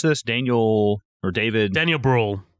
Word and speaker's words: Brühl: gonna butcher this guy's name how do you pronounce this Daniel or David Daniel Bruhl rule okay and it directed by Ron Howard I